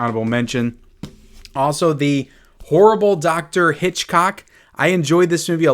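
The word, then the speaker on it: Hichcock: It looks like Hickok, but it's Hitchcock is how you're supposed to pronounce it.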